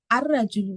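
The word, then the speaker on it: الرجل: अल डाल के रजुलू लिखना। तो जब क्योंकि र के सन लेटर होने की वजह से लाम तारीफ क्या हो जा रहा साइलेंट हो जा रहा अल का जो लाम है वो खामोश हो जा रहा तो हा जरजुल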